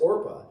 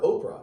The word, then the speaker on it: Orpah: In fact, the reason why we call her Oprah is because her aunt mispronounced Orpah and called her Oprah.